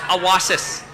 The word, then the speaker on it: Awassis: Cowessess is a misinterpretation. Our chief, our last hereditary chief, his name was Little Child. And in Cree, it's pronounced Awassis.